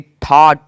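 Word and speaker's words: thought: योद्धा टी एच ओ यू जी एस टी थॉट थॉट मतलब विचार किसी में भी देख लो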